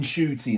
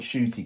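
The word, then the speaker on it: Ncuti: pair of them um it's in shoy Now isn't it it's not shooty g apparently he's he's been saying it wrong himself for all these years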